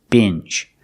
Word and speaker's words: binge: Today we're looking at this word, binge. Pronunciation, use the short I sound like this is. Binge. And the last sound is the consonant j. Make a voice, j, like juice and jump. Together, binge.